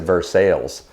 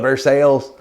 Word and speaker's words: Versailles: Well, no, in Kentucky, though, they have a town called Versailles, but they pronounce it Versailles because it's Kentucky. Anyway, I always find that hilarious whenever I go to Kentucky. Can we go to Versailles?